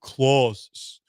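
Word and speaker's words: Clase: It's Emanuel Claus. Say, not CL. Shake my head. Listen, I'm just reading the phonetic pronunciation from Hector Gomez online and honestly if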